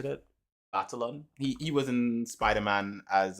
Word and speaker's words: Batalon: Batalon.